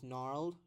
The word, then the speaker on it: gnarled: অ্যান্ড কি, the vegetation ছিল is gnarled and tough. Gnarled, এটা gnarled বলবেন না, gnarled জিটা সাইলেন্ট এখানে, gnarled বলবেন না, gnarly বলে।